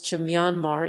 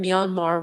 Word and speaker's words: Myanmar: The final R in Myanmar was not intended for pronunciation and is there to ensure that the final is pronounced with the broad A in father.